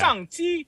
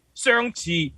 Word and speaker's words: Shang-Chi: Shang-Chi, Shang-Chi, Xiang-Chi.